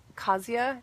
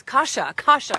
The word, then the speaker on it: Kasia: I'd love to know if anybody else has any answers for Kasia. Tell me. Pronounce Kasha. Yes, thank you. That makes more sense. I think Kasia wasn't that far off. Kasha, thanks.